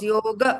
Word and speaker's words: yoga: fully it is Papa it is Yoga it is not yog it is R because